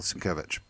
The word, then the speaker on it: Sienkiewicz: the Moby Dick one, because that's by Bill Sienkiewicz. Is that, yeah, Sienkiewicz. Bill Sienkiewicz. I keep getting it. I pronounce his name wrong.